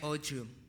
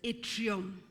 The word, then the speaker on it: atrium: vena cavy yes youf the right Orum okay the proper pronunciation is atrium ad which chamber of